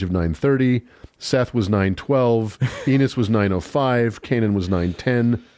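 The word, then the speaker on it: Enos: And Seth Seth has a son Seth has a son called Enus. And chapter 4 that rhymes with penis.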